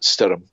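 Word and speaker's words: Stoirm: It's Stoyrm, and apparently that is pronounced Stirrum. And that's Gaelic for storm.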